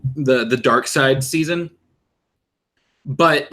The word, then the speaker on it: Darkseid: her a picture of Darkseid now you guys you've seen Darkseid it's actually spelled like dark seed dark SCO ID um totally seen him